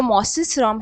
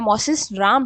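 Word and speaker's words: Mawsynram: भारत में सर्वाधिक वर्षा वाला स्थान जो मॉसिस्रम है या मॉसिस राम है जिसे हम अलग-अलग तरीके से प्रोनाउंस करते हैं। मॉसिस्रम बोला जाता है जो कि मेघालय राज्य में है।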